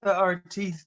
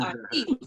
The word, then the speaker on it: Artiste: It's TheArtiste, but yeah, the rest of it is right. Jamie, the artiste.